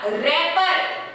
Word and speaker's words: wrapper: रैपर, WRAPPER, रैपर, इसे क्या बोलोगे आप? रैपर। W जो है साइलेंट है, रैपर जैसे आप टॉफी